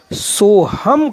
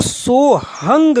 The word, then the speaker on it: सोहम: से बाहर चली गई अगर जो एक ही श्वास मानते हैं वह इसका उच्चारण सो हम करेंगे अन्य संत जो प्राचीन परंपरावादी है वह इसको सोहंग कहेंगे उनका मानना है कि